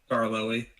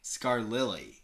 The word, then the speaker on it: Scarloey: How do you pronounce that? Scarloey. What? Scarloey. Scarlily.